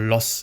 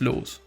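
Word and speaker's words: Loos: he did well that's that's the name german pronunciation or loss actually no it's it's laws i was an austrian architect an influential european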